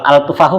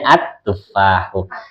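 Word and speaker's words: التفاح: Kalau al-tufahu ganjel ya. Iya, kayak ya udah yang ganjel buang aja Bu. Ya, jadi bacanya at-tufahu.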